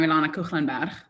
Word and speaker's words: Ilana Koegelenberg: As Mark said, I'm Ilana Koegelenberg. That's how you pronounce it, so I can't really blame anyone for that.